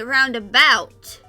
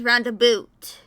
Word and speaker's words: roundabout: in other places but in the South you have say roundabout however when I went to Wisconsin earlier this year and spent some time with my grandpa he pronounced it as round a boot like these round of